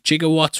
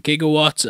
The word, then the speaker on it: gigawatt: according to I'm DB jigawatts was mispronounced from gigawatt and this was due